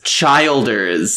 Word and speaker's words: Childers: It's Tyler, and then it's Childers, like Childers.